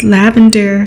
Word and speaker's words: Lavandyre: Hi, my name is Lavandyre. Yes, pronounced like flowering plant, herb, and color.